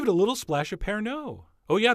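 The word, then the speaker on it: Pernod: a little splash a pair No oh yeah the D is silent in fact the O is almost silent and if you haven't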